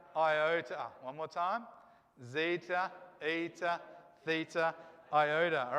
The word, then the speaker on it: eta: n yeah in english don't be tricked it's not an n it's a long e sound all right this is eta and it's a long